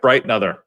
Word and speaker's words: Breitenother: and other squish it squish it together and just Mumble it other you you can even take out the ends just like bright another squish it I know I'm sure